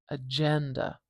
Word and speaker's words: agenda: If we have agenda, agenda, we know the stress is probably not going to be on a schwa here or here, which means the stress is the beginning here. And I can hear that. I can hear that it's kind of like agenda, agenda.